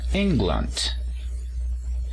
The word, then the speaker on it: England: país de inglaterra inglaterra decimos england el acento se encuentra en la primera sílaba y para la nacionalidad